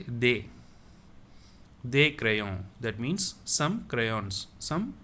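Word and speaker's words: des crayons: also i will say they crayon i will not say they crayons okay i'll say they crayon that means i am not going to pronounce this s instead i will say they they crayon that means some crayons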